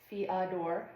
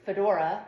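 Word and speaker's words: fiador: So, uh, we have a couple knots here pronounced fodor knot, uh, commonly called fedora knot, like I sometimes do when I make a mistake.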